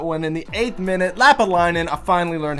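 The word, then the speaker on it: Lappalainen: In the 8th minute, Lapalainen, I finally learned how to pronounce it, scores for Montreal.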